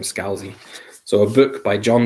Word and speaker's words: Scalzi: red shirts Scalzi okay Thomas says you pronounce his name Scalzi so a book by